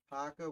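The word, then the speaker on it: Paca: word hooper i think we did paco which sounds wrong but it's right williams and williams son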